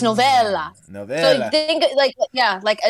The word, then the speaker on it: Novella: Your first name, is it pronounced Novella or Novella? Novella. Novella. You said it right the first time. Yes, like a short novel.